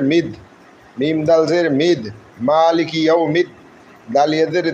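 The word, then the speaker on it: مَٰلِكِ: দয়ালুদাতা মেহেরবান আলহামদুলিল্লাহি রব্বিল আলামিন আর রাহমানির রাহিম মালিকি মালিকি মিম খাজরমা মিম খারা জবর মা মিম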